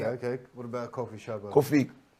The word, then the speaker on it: Kofi: Normally, a lot of people spelling different, but we spell it in our way in the Ghana, so it's KOFI. So not coffee, not the black coffee that I'm drinking.